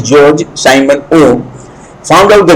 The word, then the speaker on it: Georg: simon oh george simon although it is g e o r g not e it is still pronounced as george simon oh found out